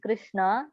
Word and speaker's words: Krishna: The words Hare pronounced Hare, Krishna pronounced Krishna, and Rama rhymes with Rama are Sanskrit words.